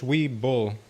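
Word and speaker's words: Webull: We It's we bull. It's spelled we and then like a bull. B U L L. All-in-one broker. Very nice. We'll leave my uh Charles Schwab to Weeble.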